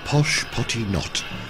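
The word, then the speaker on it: Pashupatinath: bits the temples of posh potty knot correct pronunciation according to the rough guide are part of the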